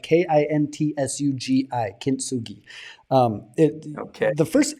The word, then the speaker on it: kintsugi: that kintsugi that searing together the broken shards man that's